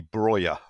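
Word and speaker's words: Broja: Well, if you listen to the Albanians going nuts on the commentary when he scores for them, if you go with the Albanian pronunciation, it seems to be Broyer.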